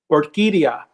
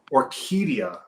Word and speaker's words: Orquídea: Orquídea. Orquídea. Yeah. Okay. But it's spelled differently than this now.